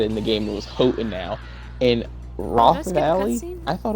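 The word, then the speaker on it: Hotenow: all of these now until they said it in the game I was like hot now sounds I mean it's a fiery Mountain so hot in now I was like hey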